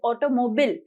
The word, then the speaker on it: automobile: ऑटोमोबिल, ऑटोमोबिल, इट इज नॉट ऑटोमोबाइल, इट इज ऑटोमोबिल। इसको last में हम बोलेंगे मोबिल, ऑटोमोबिल।